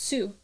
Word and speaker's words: tsu: are also some syllables like TSU which is pronounced Su okay so certain stuff